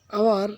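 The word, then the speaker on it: hour: Number 23, আই am standing, আমি দাঁড়িয়েছিলাম hair এখানে, ফর ড্যাশ আওয়ার, আওয়ার এটি কনসোনান্ট দিয়ে শুরু হয়েছে কিন্তু এর উচ্চারণ ভাওয়ালের মতো হয়েছে, তাই এর পূর্বে অ্যান ব্যবহার করতে হবে।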